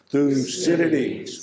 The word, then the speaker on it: Thucydides: least learn one thing here today how to pronounce this fellow's name when they do it in unison one two three through Citadis one more time lucidity so who is lucidity